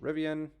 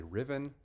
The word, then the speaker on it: Rivian: Red Royal Flush, Rivian. I finally said it right. I didn't say Riven.